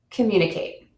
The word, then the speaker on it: communicate: And you're going to stress the syllable to before the suffix in words ending in c, t, phi, g, all, eyes, and ate. Sanity, critical, advertise, communicate.